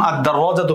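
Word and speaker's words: الدراجة: আল কিতাবু কিন্তু যখন আদাররাজাতু পড়ছি আদাররাজাতু যখন পড়ছি তখন লামটা উচ্চারিত হচ্ছে না আদাররাজাতু আদাররাজাতু আদারজাতু লাম উচ্চারণ হচ্ছে না বরং সরাসরি আলিফ দালকে গিয়ে ধরছে আদাররাজাতু আন্নাফিদাতু এই যে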